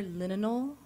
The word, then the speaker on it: Linalool: linalool.